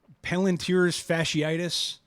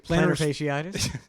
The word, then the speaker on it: plantar fasciitis: I'm going to say it wrong because I always Palantir's fasciitis. Plantar Plantar- fasciitis.